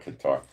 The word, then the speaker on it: Qatar: I think it's pronounced Kada, but we'll call it Qatar.